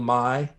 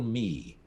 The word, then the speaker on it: My: She, although I think it probably should have been pronounced Little Me, but anyway, Little Mai is the way we pronounced it. Yeah, it depends Yeah. on on different variations.